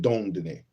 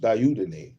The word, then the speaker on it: Dieudonné: be so careful even about making arrangements with Dieudonné. I know I'm mispronouncing. Let's see if I can see that. Let me spell it. Dieudonné. No, that's not him. Dieudonné. The French name Dieudonné is pronounced Dieudonné.